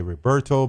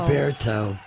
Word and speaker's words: Roberto: Most people want to say Roberto, but he's correcting me and teaching me to pronounce it Roberto.